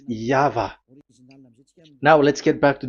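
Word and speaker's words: YHVH: The original one is V, and there is no more explanation. But that is the phonemes, the pronunciation. Pronunciation is equal V. It is V. Y H V H. So it is YAHVAH.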